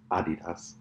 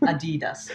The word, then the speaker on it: Adidas: I love the way you say Adidas. Adidas. You gotta say it like American. No, it's not Adidas. American. Adidas. Is German-based. Herzog Norach. It's called Adidas.